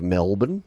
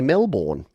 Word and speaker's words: Melbourne: folks outside of Australia when they first see that they quite correctly say Melbourne because that's how it should be pronounced and here in Australia we've got cranbourne we've got other places that have borne the born identity uh yeah The Bourne Supremacy no but Melbourne but we say Melbourne bin BN like not